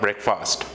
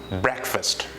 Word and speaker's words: breakfast: day what is it it's not breakfast it is breakfast breakfast say it again